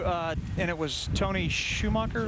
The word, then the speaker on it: Schumacher: and it was Tony Schumacher right yeah it's pronounced Schumacher okay you can call